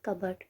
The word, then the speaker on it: cupboard: No, the P is silent here. I used to pronounce it as cupboard.